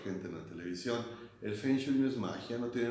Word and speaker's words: Feng Shui: Realmente se pronuncia Feng Shui.